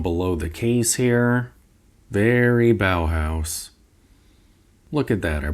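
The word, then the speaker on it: Bauhaus: Very bow house. Look at that. I pronounced it correctly.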